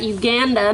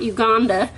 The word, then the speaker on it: Uganda: I just learned to pronounce that, Uganda, not Uganda, and that sits right about here-ish.